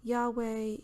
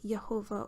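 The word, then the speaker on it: YHWH: It's variously been pronounced by others as Yahweh, Yehovah, or Jehovah, among other things, down through the years, when it was considered appropriate to pronounce it at all.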